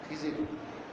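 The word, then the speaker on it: خضر: মুসা আলাইহিস সালাম আর খিজির আলাইহিস সালাম, আরবিতে যারা খাদির বলে, উচ্চারণ খাজির, বাংলা মানুষ খিজিরই বলে, তাই তো হযরত মুসা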